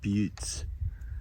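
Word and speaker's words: butte: walk around one of these boes they are pronounced butes so we're going to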